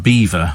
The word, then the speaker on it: Belvoir: this was Beaver Castle spelled Belvoir but pronounced Beaver for reasons best known to themselves and they lose